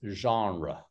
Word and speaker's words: genre: so this one is it's the French pronunciation it's genre yeah typ science fiction that's